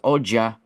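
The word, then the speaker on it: oggi: because it's like uh who today cuz cuz oja oja oja is it's spelled OG g i a but it's like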